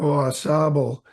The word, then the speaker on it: Ausable: what is is it is the cor correct pronunciation Al or assab oh assab um it's French you know assab um which